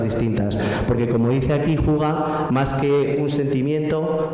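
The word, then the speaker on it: hygge: Pues mirar, hacen distinto esto, un concepto que ellos llaman Huga, que se escribe así Hige, pero se pronuncia Huga, no me preguntéis por qué, y este concepto Huga lo representa muy bien esta foto.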